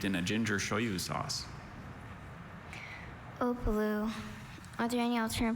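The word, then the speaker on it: opelu: Opalu. Are there any alternate pronunciations? Just the one, Opalu. Watch the middle syllable. Middle vowel. Opalu.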